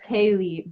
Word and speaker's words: Caleh: My name that my mom gave me is Kaylee. Just Kaylee, but it's spelled the same way, Caleh, or no, it's Caley, but I just changed it to the H because I was like, Caleh is me.